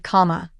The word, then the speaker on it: Kamala: name at their Direction one side of the Arena shouted comma and the other law